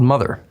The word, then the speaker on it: MOTHXR: It's called Mother, spelled with an X.